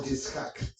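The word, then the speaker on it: יצחק: Se va a casar con Isaac o Yitzhak, como se pronuncia.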